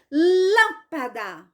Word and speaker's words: lâmpada: eu vou dar um exemplo aqui da palavra lâmpada lâmpada qual é a sílaba mais forte Esse é o da que